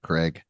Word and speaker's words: Krieg: did 2 Point, and he would always call him Dave Krieg, and I'm like, Craig. It's literally spelled like Krieg.